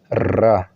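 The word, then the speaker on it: راء: Ra. Donc, c'est un R qui est roulé. Donc, quand tu prononces Ra.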